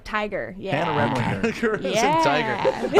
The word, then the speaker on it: Remlinger: Remlinger? Remlinger. Gur is in Remlinger. like tiger. Yeah. Hannah Remlinger.